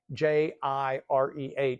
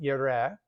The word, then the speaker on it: Yireh: And it's spelled oftentimes in English as Jehovah and then Jireh, Jehovah Jireh. But there's nothing in Hebrew that sounds remotely like either of those words. So we'll say Hashem Yireh.